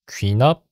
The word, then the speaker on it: 귀납: 제가 이거를 제기 원리라고 읽었네요. 귀납 원리입니다.